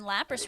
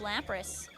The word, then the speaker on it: Lapras: I think you're saying Lapras wrong. It's Lapras.